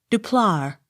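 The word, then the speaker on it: Du Plat: d d u space p l a t de plar e l g i n elgin the g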